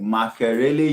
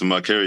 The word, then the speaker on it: Makerere: He works in the university pod, UNDP University pod in Makerele University. Did I pronounce that correctly, Louis? Yeah, it's Makerere University Innovation Pod.